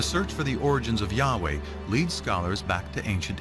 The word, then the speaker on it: Yahweh: and his name was these four letters which in English would be yhw H which we think were probably pronounced something like Yahweh but Yahweh only appears